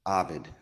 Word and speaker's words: Arvid: Arvid. Ovid, definitely. That's how you say it.